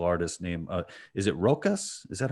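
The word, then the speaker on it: Rokas: uh another martial artist named uh is it rokus is that how you pronounce uh yeah rocus over it yeah and rocas has a really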